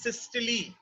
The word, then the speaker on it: systole: Actually the correct pronunciation is systole, but India में अगर हम बहुत ज्यादा करेक्ट प्रोनाउंसिएशन करेंगे तो लोगों को बात समझ में भी नहीं आती है. So the contraction of heart is called systole, but we will call it systole.